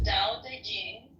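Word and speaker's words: Tao Te Ching: is his best reward da Ching pronounced more or less da Jing can be translated as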